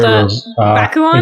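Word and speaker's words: Bakuon: This story Bakuan? Is that how that would be pronounced?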